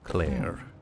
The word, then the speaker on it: Clair: L E A but you would pronounce it very very similarly to Claire.